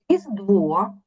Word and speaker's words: Різдво: ласка ще раз Хочу давайте прочитаємо складні слова і наголос щоб ви потім правильно читали Різдво Різдво родзинки родзинки віддвяного